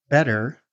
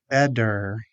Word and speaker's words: better: Flap T usually appears when T becomes between two vowel sounds and the T is an unstressed syllable. Some examples are water, city, computer, better, pretty, meeting.